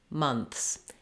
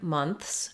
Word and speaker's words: months: So in the word months, we have the th and the s sounds together at the end.